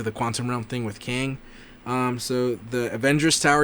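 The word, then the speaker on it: Qeng: it um it says i believe it's called kang i could be pronouncing it it's q-e-n-g um in the comics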